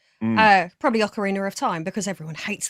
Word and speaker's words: Ocarina: Uh, probably Ocarina of Time because everyone hates the way I say Ocarina apparently.